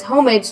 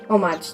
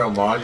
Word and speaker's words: homage: That's why the village pays homage to the gods in the sacred homage. Thank you. Oh, no, there's no. You don't pronounce the H.